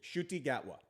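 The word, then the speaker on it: Ncuti Gatwa: He was uh Shy Shuty Gatwa. It's not spelled that way. It's spelled like CTu TI.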